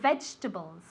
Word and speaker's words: vegetables: you have to buy vegetables remind me to buy vegetables okay Vegeta bowls three syllables veg with the V sound okay vegetables okay first syllable veg okay okay vegetables vegetables